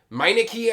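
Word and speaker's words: Mykene: Argorios is this Meineke, I believe is how it's pronounced.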